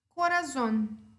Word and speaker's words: corazón: Corazón é uma palavra que termina em N, certo? E a sílaba tônica é a última. Então, eu acentuo.